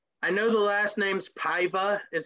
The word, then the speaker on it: Paiva: this one son i know the last name's paiva is how you say it but raulian so